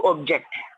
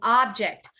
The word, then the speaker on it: object: the verb was correct the noun is an object an object you all repeat it an object an object correct an object but if it's a verb you would say to object to object objective to object so